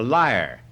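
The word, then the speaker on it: lyre: Hermes invented The Leader how do you pronounce yeah the liar the liar like the harp Hermes invented the liar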